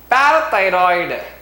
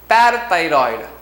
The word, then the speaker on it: parathyroid: The next third gland is parathyroid. Parathyroid. How you have to pronounce?